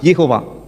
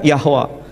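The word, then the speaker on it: יהוה: Sementara bahasa Ibrani, pronunciation-nya Yod, He, Vav, He, Yehovah. Yehovah, kadang Yahweh.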